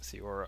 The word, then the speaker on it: Theora: and comma forbus and I think I mispronounced theora on the last video I was adding a D in there that didn't exist so uh anyway you